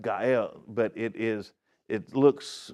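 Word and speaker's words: גואל: Now the Hebrew word for this is go out and it it's actually pronounced gael but it is it looks when you write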